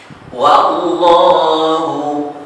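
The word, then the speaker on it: وَاللَّهُ: dhalika hasratan fi qulubihim wallahu. Berkali-kali saya ingatkan waw di mata harus dibaca wa bukan wo. Oleh karena itu bacanya wallahu bukan wallahu tapi wallahu yuhyi wa yumitu wallahu bima ta'maluna basir.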